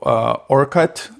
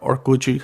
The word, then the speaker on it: Orkut: So he discovered plenty of fish, or this other Brazilian website called Orkut, or Orkut, how they say it in Portuguese, but it's Orkut.